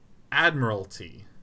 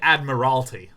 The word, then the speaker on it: Admiralty: do you pronounce this Admiralty that's right you you you really collapse on that third syllable Admiralty you don't say Admiralty that's what my brain